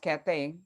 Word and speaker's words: Cathay: woman buffalo soldier and her name was kathy or might have been pronounced cathay c-a-t-h-a-y williams and she was a